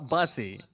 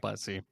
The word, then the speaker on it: Bussey: oh god i'm sorry starting uh buzzy it's bussy okay and uh what